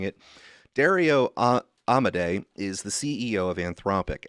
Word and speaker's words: Amodei: So Dario Amodei, who I have previously pronounced as Amodi because I'm just reading it and not going by the way everyone else is pronouncing it, Dario Amodei is the CEO of